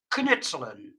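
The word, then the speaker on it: knutselen: crafting in dutch and when you pronounce it you pronounce it as kenitzlen so that's that's the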